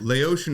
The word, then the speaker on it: Laotian: And yeah, Laotian would sound like what you'd want to say, but Laotian is the proper way to say it.